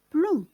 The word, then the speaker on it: plomb: Exemple, plomb. Il se termine par un B, mais on ne le prononce pas.